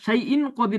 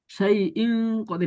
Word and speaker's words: شيء قدير: সেই ইন কদির নাকের ভিতর থেকে পড়বো, নাকের ভিতরে নিয়ে যাবো।